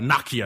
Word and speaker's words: Nokia: little bit of late good old Nokia or Nakia I think as some folks pronounce it overseas either way good for